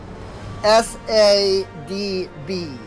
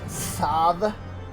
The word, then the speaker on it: Sadb: Is pronounced something, at least from what I've tried to like understand of like Celtic culture and names, is pronounced more like Sav or Sav. You know, while it's obviously spelt S-A-D-B, so it would be like Sadb. It's actually like, that was just how the V was spelt back in like Celtic days kind of thing.